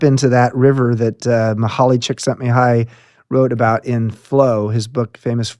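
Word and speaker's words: Mihaly Csikszentmihalyi: book famous book and you're the first person I've ever heard to say his name right it's was he calls himself mik you had to practice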